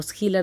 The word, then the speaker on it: Schiller: Entonces, Friedrich Schiller o Schiller, de acuerdo con la pronunciación alemana, fue un grande, fue